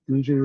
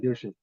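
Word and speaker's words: Gushue: Um, and so it'll be interesting to see if Guju, and I'm still getting used to that pronouncer, by the way, for his last name, Guju. I'll never get I it. keep saying Guju.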